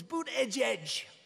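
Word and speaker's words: Buttigieg: I think it was boot edge edge. Boot edge edge. They said, think of it as boot and then edge edge, because nobody can pronounce this guy's name.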